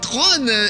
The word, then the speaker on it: Tron: regardez il est là-bas ça ne s'appelle pas Tron comme le ministre George Tron mais Tron évidemment comme ça que ça se prononce hein c'est le premier